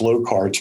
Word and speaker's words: Locard: there is a principle i believe it's pronounced low cards principle that states that every